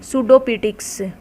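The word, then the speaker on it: pseudoptics: सूडोपिटिक्स। तो इम्पोर्टेंट है, सूडो में क्या आ जाता है? पी साइलेंट हो जाता है, तो इसकी स्पेलिंग आप अच्छे से देख लीजिए।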